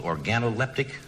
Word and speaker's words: organoleptic: have isn't it a real job did I pronounce that right that's right analytical organoleptic that's right specialist Seafood that's right all it